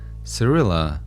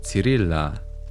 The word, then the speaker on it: Cirilla: Cyrilla, or Siri, isn't pronounced this way originally. Now, I'm gonna leave the judging to you, but in Polish, it's Cyrilla and Ciri.